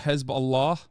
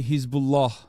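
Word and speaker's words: Hezbollah: don't want to be that chatter but it's pronounced hezb Allah okay in Turkish you say hisbah okay shut the up you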